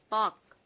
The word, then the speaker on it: walk: Hi everyone, silent letters. L silent words. Talk, మాట్లాడు. Walk, నడుచుట.